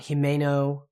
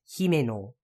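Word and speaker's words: Himeno: those Kani mean and remember it's not himo it's heo the he is Princess and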